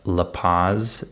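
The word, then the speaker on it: La Paz: in the city of laaz in Mexico that's the way we pronounce the city in English uh and this is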